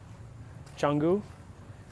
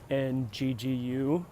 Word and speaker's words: Canggu: It's Canggu, but it's like Canggu, but I think they pronounce it Canggu.